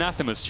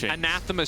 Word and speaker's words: anathema: the item i always miss so it's an anathema anathema thank you i butchered this everything i said anathema's a few